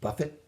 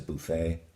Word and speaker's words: buffet: That if it were an English word, you'd pronounce it buffet, but it's a buffet.